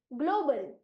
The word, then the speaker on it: global: क्योंकि हमने vowels, tell words with vowels के अंदर सीखा है कि एल से समाप्त होने वाला टेल वर्ड है तो उसके आगे आने वाले कॉन्सोनेंट को कंसिडर करना है, इसीलिए इस शब्द का उच्चारण हम करेंगे ग्लोबल।